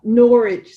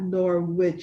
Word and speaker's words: Norwich: Norwich. Somebody told me that English and they don't pronounce the W, so it's not Norwich, it's Norwich.